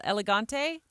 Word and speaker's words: Elegante: so let's bring Christine as Elegante have I over pronounced I got it right I was like I'm over pronouncing your last name here uh so you're the